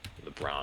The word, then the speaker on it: Lubrano: Do you know how that's spelled? I can look it up. Steinlubano, Lubrano.